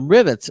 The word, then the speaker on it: Rivetz: um so let's talk about the company rivetz it's spelled r i v TZ uh rivets makes it simple to connect web services to